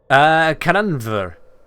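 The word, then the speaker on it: Canaanvr: Cananver.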